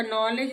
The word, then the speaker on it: knowledge: नॉलेज, नॉलेज में भी KNOW से है तो एन से पहले के है, का नॉलेज नहीं होता, ये नॉलेज होता है।